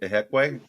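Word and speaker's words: Ihiekwe: That's how you pronounce that name, right? Ihekwe? Mm-hmm. Okay. Correct.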